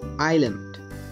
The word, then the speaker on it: island: In this word, S is silent. Island.